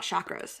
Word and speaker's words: chakra: today we're talking about chakras or it's actually chakra is you're supposed to say it like a Chuck so it's really important